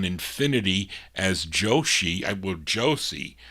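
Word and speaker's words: Joshie: as Joshi I will Josie I guess that's how you would pronounce Josie j-o-s-h-i-e Josie Armstead then in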